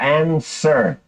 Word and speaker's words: answer: Esse W ele não é pronunciado, fica answer.